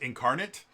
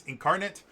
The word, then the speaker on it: Inkarnate: Uh, it should be pronounced incarnate. Um, but I just want people to understand that it's INC ink and then arnate. So, it's incarnate, but uh it's a fantastic website um that